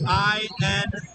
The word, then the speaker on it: Insana: Last name is I-N-S-A-N-A. It's pronounced A-N-A. It's called Insana.